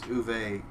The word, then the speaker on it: Uwe: I'm looking it up he's German it's like UWE yeah he's German so I think it's uve let me see mest broke pretty much any movie from him yeah it is it's uve uve bow but uh